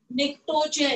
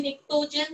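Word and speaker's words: pnictogen: निक्टोजन कहते हैं, निक्टोजन, but spelling में पी है, PNI.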